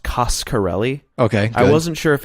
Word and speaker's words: Coscarelli: thing i learned for sure is that it's pronounced coscarelli okay i wasn't sure if it was casa le or costco le so i was glad he clued us in